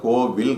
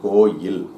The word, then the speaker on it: கோயில்: ஆனா இந்த வார்த்தைய இந்த வார்த்தை எல்லாருமே பயன்படுத்தும்போது கோவில் அப்படின்னு சொல்லி பயன்படுத்துறாங்க. கோவில் கிடையாது. அது வந்து கோயில்.